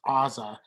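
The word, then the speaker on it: Azah: her big mom or ozza i believe we've been pronouncing it wrong it's ozza on top she was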